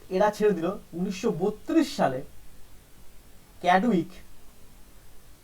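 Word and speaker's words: Chadwick: তার মানে বললো তখন এরা ছেড়ে দিল 1932 সালে ক্যাডউইক, যার বাংলা বই লেখা থাকে স্যাডউইক, যাই হোক সিটাকে এসে উচ্চারণ করে, ক্যাডউইক বলল যে এই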